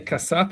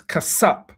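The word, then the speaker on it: חֲסַף: Strong's H 2635 khaseph khaseph They say kasap, it's kasap.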